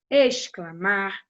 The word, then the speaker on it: exclamar: X com som de S, exclamar, explodir. Apesar de você pronunciar ex como se fosse escrito com S, você vai escrever com X.